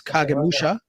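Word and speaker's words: 影武者: Shadow Warrior and um it's in Japanese it's kagemusha the um the title of the show you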